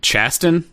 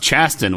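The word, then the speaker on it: Chasten: you guys talking about chastain yeah yeah i think i think it's pronounced chaston which is wild to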